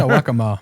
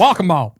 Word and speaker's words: Waccamaw: Yeah, Waccamaw. Yeah. It's walk a mile, but they got real like lazy with it. Waccamaw. Oh, sorry, no, it's whack-a-mole.